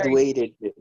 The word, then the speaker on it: graduated: Graduated. Oh, so it's ed, right? Ed. Ed. So we say id, right?